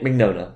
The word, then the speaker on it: Mignogna: Vic Mignogna.